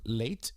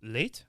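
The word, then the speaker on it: Leite: guy that's running against just tell me how to say his name eduardo late late late i believe right okay yep so brazilian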